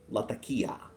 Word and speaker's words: Latakia: So, unless you're going just pure Latakia, which, by the way, in my opinion, that is the correct pronunciation. Latakia.